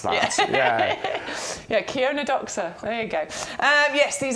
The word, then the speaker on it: Chionodoxa: Yeah, I grew these years ago, and I remember looking at the packet thinking, how do you pronounce that? Yeah, Chionodoxa.